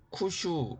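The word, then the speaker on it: 九州: 지금 왼쪽에 보이는 섬이 구주 일본 오바 돔으로 쿠 슈 라고 합니다 그 옆에는 4 9 일본어 발음으로는 시코쿠 라고 하는 섬이 있습니다 그리고 인삼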